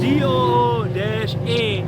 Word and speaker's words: Duhe: It's not Duh, it's not Duhe, it's not any of that. D-O-O-A is the pronunciation.